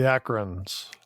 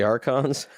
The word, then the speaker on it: Archons: Next week, Dan, Return of the Akrons. I think it's the Archons. It's like Return of the People from Akron, Ohio. I mean, you could pronounce it Archons, the Return of the Archons.